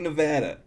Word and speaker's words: Nevada: like, oh, we're here in Las Vegas in Nevada. It's Nevada. Just say Nevada.